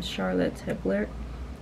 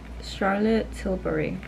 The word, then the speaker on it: Charlotte Tilbury: got this powder from Charlotte hibler I don't even know how to pronounce it Charlotte what's the name Oh Charlotte Tilbury and I got the